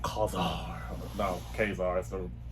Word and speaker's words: Ka-Zar: No, KA-ZAR is the right pronunciation.